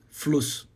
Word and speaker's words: Fluss: As vogais aqui agora são vogais curtas. Como assim curtas? Na hora de pronunciar, você não vai alongar a vogal. Elas são curtas. Então aqui você vai falar o quê? Fluss. Bem, então, não vai prolongar esse U, entendeu?